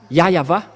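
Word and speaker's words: Yahweh: ici chez les Orientaux il prononce vraiment le W par un V ou par un B c'est ici qu'on voit clairement que le W est bien un V mais ce sont les Occidentaux qui l'ont changé en ou mais pour les Orientaux il prononce bien le le W en tant que V mais c'est le V qui est vra la bonne prononciation et c'est pourquoi ils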